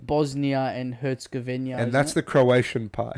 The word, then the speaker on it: Herzegovina: Bosnia and Herzegovina.